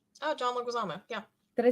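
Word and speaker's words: Leguizamo: everybody's gonna yell at me and that's a-okay legazamo oh John leguizama yeah did I say his name right for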